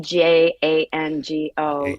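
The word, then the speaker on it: Django: I always wondered D J A N G O that the D was silent. I've never I've I've seen it and I've always wondered how to say it. So now I know it's Jango.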